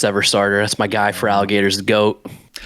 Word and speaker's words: Feraligatr: Feraligatr's the goat. Feraligatr. I I never figured out how to pronounce it cuz it's like they cut out the R on the end.